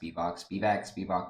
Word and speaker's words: Spivac: I'm pretty sure it's pronounced Spivac, whatever.